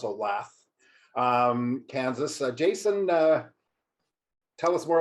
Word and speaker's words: Olathe: From near Kansas City, because I can't pronounce Olathe, Kansas. Jason, tell us more about yourself. I'll help you there. It's Olathe. Everybody has a problem with that one.